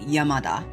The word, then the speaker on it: Yamada: So like a really common Japanese name is like yamada. Yamada. And it's using the kanji yama mountain and da which is a pronunciation of the word rice patty.